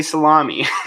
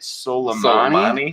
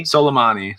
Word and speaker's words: Soleimani: over it you watch what we say actually though is so we get a right Soleimani Soleimani soleimani salami is oh I'm not gonna